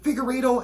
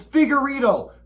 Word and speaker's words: Figueiredo: that the Brazilians speak is it Figueredo am i questioning my own last name after 30-plus years no it's figure Ito pronounce it right okay and if the